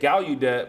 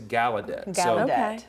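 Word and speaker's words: Gallaudet: I said Galudet but someone correct is Galedet.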